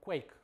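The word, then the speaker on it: Quaich: framework for scala and quake basically it's it's pronounced quake and for you for some of you who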